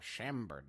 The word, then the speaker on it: Chambord: Isn't I pronouncing that correctly? That's the raspberry liqueur. Chambord.